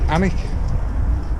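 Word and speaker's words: Alnwick: then anik is a-l-a-n Wick and the locals pronouncing anik so uh well today so we crossed the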